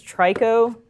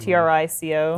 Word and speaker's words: Trico: I believe its name is Trico, or I think that's how it's pronounced, Trico. Yeah. Interesting. Like Ico, but the third one?